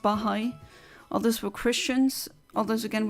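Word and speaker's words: Baháʼí: beans or or bahai I think it's pronounced bahai others were Christians others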